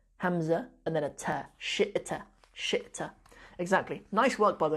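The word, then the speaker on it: شئت: It's shi'ta, spelled like that. It is indeed. It's spelled sheen, and then a hamza, kind of sitting on like a ya seat, we call it.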